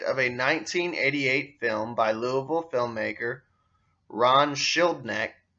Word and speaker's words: Louisville: artillery artery into louisville by the way it's spelt louisville but here in kentucky we call it louisville heavy freight trains cross